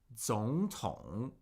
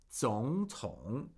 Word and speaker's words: 总统: 总统. 总统. We have 2 third tones. 2 third tones right here. And remember, when we have 2 consecutive third tones, they get pronounced as second tone, third tone.